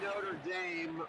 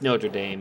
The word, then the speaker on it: Notre Dame: I was openly wishing for Duke to beat Notre Dame or Notre Dame or however you want to pronounce It's Notre Dame.